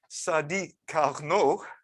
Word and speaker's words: Sadi Carnot: This guy here, pronounced Sadi Carnot.